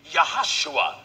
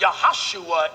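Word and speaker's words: יהושע: the son of nun there is no JS in the Hebrew language so the proper pronunciation of Joshua would be yahushua that's right yahushua in English is Jesus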